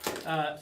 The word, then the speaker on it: Asahi: How do you actually pronounce Asahi. it? Asahi.